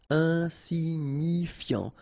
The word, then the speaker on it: insignifiant: Okay, final T not pronounced, so you've got this IAN, ian, so F before, fiant. Insigni, okay, remember, GNI, ni, insignifiant.